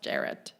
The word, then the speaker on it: Jared: It's just Jared, not Yeah. Jart.